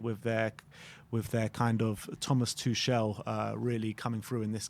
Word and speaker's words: Tuchel: A lot of people keep saying to me, it's Tuchel, not Tuchel. Oh, okay. Apparently Tuchel's the wrong way to pronounce it.